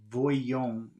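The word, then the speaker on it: voyons: they just say Guillaume if they're going to pronounce it like that but it's voyon v o y o n s 137.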